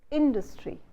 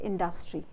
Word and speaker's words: industry: So you say industry, you don't say industry, you say industry, you don't say industry.